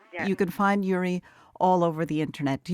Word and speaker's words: Uri: understand the the correlation and yuri is spelled uri and her last name